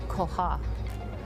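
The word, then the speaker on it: Koach: So it actually you pronounce it you have to put your tongue kind of on the back and say koha and it actually means God's strength.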